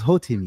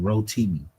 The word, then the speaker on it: Rotimi: I was I was Hoimi. Yes, I was the Hoimi. Yes, sir. And I think I pronounced his name wrong. Rotimi.